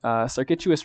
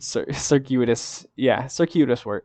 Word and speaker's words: Circuitous: Circuitous Root. I can never say that word. Circuitous Root. I said it right the first time.